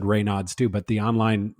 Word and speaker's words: Raynaud: And by the way, the pronunciation online, the doctor actually said Raynaud's too, but the online, like it's supposed to be Raynaud. It's a silent Raynaud.